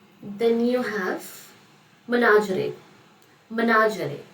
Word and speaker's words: menagerie: Menagerie, the pronunciation is menagerie.